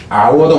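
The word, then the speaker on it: hour: 영어에서 이 H자는 묵음이 되는 경우가 되게 많아요. 아워도 마찬가지고 아너도 마찬가지고 이렇다는 얘기죠. 시간할 때도 그 명예 영광할 때 아너도 역시 마찬가지. 그래서 어니스트도 마찬가지죠. 정직할 때도 그래서 이 음가에서 그놈이 죽어버린 경우라 하는 거예요.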